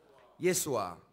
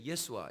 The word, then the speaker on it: 예수아: 거기서 아자만 뺐지 요수아라는 그런 발음이기도 하고 예수아가 아주 오리지널 발음입니다.